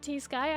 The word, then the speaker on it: T-Sky: Okay, sounds good, T-Sky. I can do that. I wasn't sure if I was supposed to pronounce it T-Sky or Sky, like the T is silent.